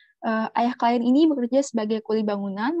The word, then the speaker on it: klien: Kalau pakai bahasa Indonesia itu pakai bacanya klien. Tapi kalau pakai bahasa Inggris bahasanya client.